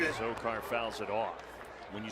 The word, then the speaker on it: Azocar: Azocar, Azocar, all right, that's how you pronounce it. Azocar.